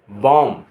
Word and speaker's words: balm: BALM बॉम, दर्दनाशक मलहम। यहाँ L silent रहता है, बॉम कहलाता है।